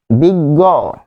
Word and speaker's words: বিজ্ঞ: আর বিজ্ঞ, বিজ্ঞ যেহেতু অ আসতেছে সেই অ হবে ও।